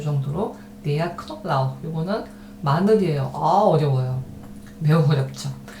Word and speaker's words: Knoblauch: 그 다음에 der Knoblauch 자, 이거는 우리식으로 하자면 크노블라우흐 이렇게 발음하면 되는데 실제로는 이런 발음들 크라든가 브라든가 이런 발음들을 우리말에 모음을 넣어서 발음하지는 않아요. 잘. 좀 살짝 지나간다고 생각하면 되겠습니다. Der Knoblauch 네, 이 정도로 Der Knoblauch 이거는 마늘이에요.